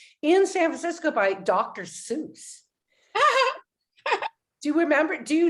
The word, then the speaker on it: Seuss: real name was dr seuss he tried to call himself dr suss but we it was spelled like zeus that's so funny oh